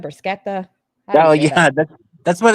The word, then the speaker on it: bruschetta: Is it bruschetta? Brusquetta.